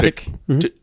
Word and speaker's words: Tudyk: I can never pronounce his last name. I think but that's no, how. Yeah, it's Tudyk. Yeah. Tudyk.